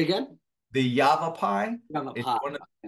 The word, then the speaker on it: Yavapai: also be uh visiting the yape correct my pronunciation On's geology Museum yav rocks say again the Yavapai yav it's one of the the peoples that